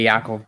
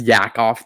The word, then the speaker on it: Yaakov: the aka well it should be joke aka yakov really but here on youtube it's it's